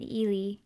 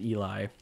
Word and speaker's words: Ely: So these are from up in Ely, Minnesota. Not pronounced Eli. Eli.